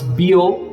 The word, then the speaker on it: Bio: And the pronunciation was bio, not bio, as we were used in India.